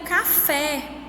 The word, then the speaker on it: café: E nós temos aí também o café. Café. A sílaba mais forte que eu pronuncio é o fé, que é a última sílaba.